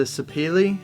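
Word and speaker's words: sapele: mahogany top and then it is a sapili I believe is how you say that mahogany sods with a Rosewood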